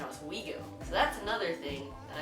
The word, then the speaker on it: Oswego: word and this word I pronounce them is to guard and us away go which is completely wrong it's actually tigard and oswego so that's another thing